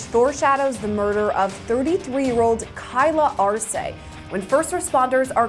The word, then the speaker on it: Kyla Arce: Spell it for me. K-Y-L-A-A-R-C-E.